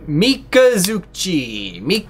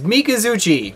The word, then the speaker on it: Mikazuchi: pronounce here we go mikazuki are you having a stroke it's mikazuchi mikazuchi level 4 light beast